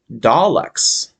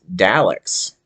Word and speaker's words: Daleks: Okay, so the British pronounce these uh, Doctor Who creatures as uh, Daleks, but I say it as Daleks because it just seems like a more American way of saying it.